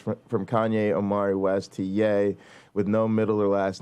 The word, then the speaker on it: Ye: Okay, well, I'll say to ye, pronounced yay by some, genius move.